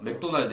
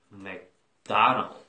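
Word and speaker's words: McDonald's: 근데 서양인들은 어떻게 소리를 내냐면 맥다나다. 다. 여기다 그냥 다. 다. 근데 그 강세를 다. 숨을 있잖아. 도날드 이러잖아. 우리는 약간 이렇게 그 뺀단 말이야, 숨을.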